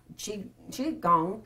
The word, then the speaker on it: qigong: Learn Qigong. Am I saying it right? Yes, Qigong, yes.